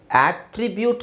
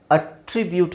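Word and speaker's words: attribute: ನೋಡಿ ಆಟ್ರಿಬ್ಯೂಟ್ ಅಂತಾನೂ ಹೇಳಬಹುದು ಅಟ್ರಿಬ್ಯೂಟ್ ಅಂತಾನೂ ಹೇಳಬಹುದು ಸೋ ಇದರಲ್ಲಿ ನಿಮಗೆ ಏನು ದೊಡ್ಡ ಡಿಫರೆನ್ಸ್ ಏನು ಅನ್ಸಲ್ಲ ಆದ್ರೆ ನಿಮಗೆ ಸರಿಯಾದ ಉಚ್ಚಾರಣೆ ಗೊತ್ತಿದ್ರೆ ಇಲ್ಲಿ ಆ ಇದೆ ಇಲ್ಲಿ ಅ ಇದೆ ಆ ಅಟ್ರಿಬ್ಯೂಟ್ ಅಟ್ರಿಬ್ಯೂಟ್ ಮೀನಿಂಗ್ ಚೇಂಜ್ ಇರುತ್ತೆ ಹಾಗೆ ಇಲ್ಲಿ ನೋಡಿ ಇದು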